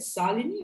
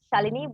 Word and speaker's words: Shalini: So for any of you who maybe want to reach out to, is it Salini or Shalini? The pronunciation goes Shalini, but it's spelled this way.